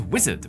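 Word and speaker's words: Uizard: a first draft off next up is Wizard which is spelled UI Ard and you might have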